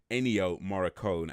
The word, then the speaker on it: Ennio Morricone: me so let me say his name correctly ennio morricone and it originally al-assad far as I'm aware